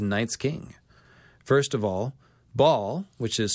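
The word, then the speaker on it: Baal: names with a night's king first of all ball which is spelled BA ' a L of Canaanite myth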